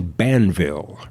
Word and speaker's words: Banville: is benjamin black no his real name is john banville rhymes with danville but with a b john banville but he also writes